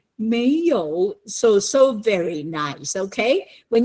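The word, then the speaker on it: 没有: So you say 没有, so very nice, okay? When you say no, you don't say it that way. You got to say 没有没有 second tone.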